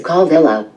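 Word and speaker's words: Kawela: In the Hawaiian language, the letter W when it's in the middle of a word is pronounced like a V, so this is pronounced Kovela.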